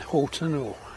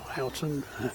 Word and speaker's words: Houghton: St Ives isn't too bad, and Houghton or Houghton, depending how you pronounce it, that's a bit of a walk.